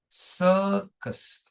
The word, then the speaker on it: circus: It is circus. Slanted line. Circus. Circus. Circus. Circus. Okay. How many syllables again? 2 syllables. Long vowel and then you have shwa.